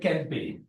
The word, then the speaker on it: Kempe: 1879 there was a proof attempt by Alfred Kempe a practicing lawyer. I think it's the correct pronunciation is probably Kemp, Alfred Kemp, but I keep saying Kempe.